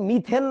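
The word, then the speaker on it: methane: হয় ওটা ঠিক না এম ই টি এইচ এন ই মিথেন এবং তোমাদের একটা নিয়ম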